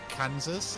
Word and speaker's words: Kansas: But how you can have a state where you have Kansas and it's pronounced Kansas, and then you take that exact